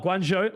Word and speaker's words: Guangzhou: effectively where they left off uh now uh Guangzhou Lions okay you know that's the correct pronunciation that's who we're going to walk through